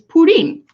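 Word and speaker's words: プリン: I really love, but the Japanese name for Jigglypuff is Purin, which coincidentally is pronounced the same way as the Japanese word for pudding.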